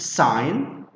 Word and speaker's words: sign: This word is pronounced sign.